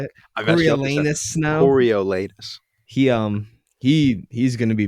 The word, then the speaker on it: Coriolanus: Coriolanus Snow.